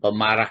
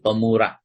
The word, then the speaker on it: pemurah: tentang keutamaan sifat pemurah hati-hati nanti keliru membacanya bukan pemarah nih tapi pemurah jadi antara pemarah dengan pemurah itu sangat berbeda sama dengan harokat di